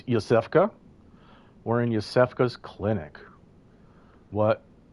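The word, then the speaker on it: Iosefka: So, we saw the popup there that said the way to pronounce that name is Yusfa.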